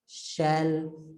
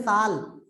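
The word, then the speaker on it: shall: लगा दिया यहाँ पर शैल। कुछ लोग बोलते हैं साल, तो भैया 2 साल 3 साल नहीं है, वो रहेगा शैल, ठीक है। शैल पढ़ा करें इसको भैया, कुछ लोग गलत प्रोनाउंसिएशन ना करें, ठीक है।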